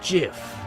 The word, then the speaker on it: GIF: It's pronounced GIF. Huh? .gif, like the peanut butter. The creator said so.